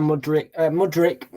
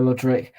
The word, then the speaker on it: Mudryk: Mikhailo Mudryk to score to get on the score sheet first. It's spelled Charlie.